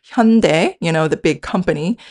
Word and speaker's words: Hyundai: where we call him Yunai." And obviously, you know, in France, they don't pronounce the H at the beginning of a word.